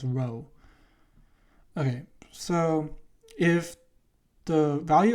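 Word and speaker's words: rho: is um it's pron it's pronounced as row okay so if the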